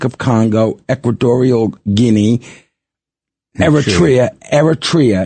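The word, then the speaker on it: Eritrea: So the countries that have a halt of naturalization, Afghanistan, Burma, Chad, Republic of Congo, Ecuadorial Guinea, Eratria, Eratria is how you say it, Haiti, Iran, Libya, Somalia, Sudan, Yemen, Bundi, Burundi, Cuba, Laos, Syria, Leon, Togo, Teddistan, and Venezuela.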